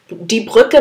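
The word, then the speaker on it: die Brücke: বা খেয়াল করেছেন যে এটা একটু ভর দিয়ে উচ্চারণ করতে হয় নর্মাল ইউ এর থেকে ই সো ই ভিডি ব্রুকে ডি ব্রুকে মানে আসলে দ্য ব্রিজ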